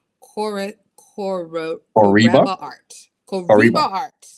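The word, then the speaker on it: Coereba: Koriba. Coreba art. Coreba Koriba. art. Yeah. So Promise. Kariba is the scientific name for the banana quid.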